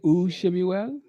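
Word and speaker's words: וּשְׁמוּאֵל: You say u Shemuel. Anyone else? Someone says Ushmuel.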